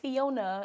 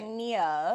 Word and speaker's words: Fionia: Like it's not Fiona, it's Right. Fionia.